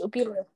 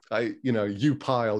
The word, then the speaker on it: Upile: Yeah, it's pronounced Opile. Opile? Yes. Thank you so much. I figured it was. Upile is clearly not the way to say it.